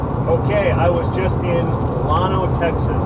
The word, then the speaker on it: Llano: Okay, I was just in Lono, Texas. It's spelled L-L-A-N-O, so I think I'm saying that right. I don't think they say it Llano like the Spanish saying.